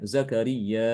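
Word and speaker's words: زكرياء: sini Imam Ibnu Katsir dia menambahkan juga Hamzah setelah huruf mad jadi nanti dibaca panjang zakariya dibacanya zakariya ada hamzahnya jadi menjadi Mad muttasil ini yang tadi saya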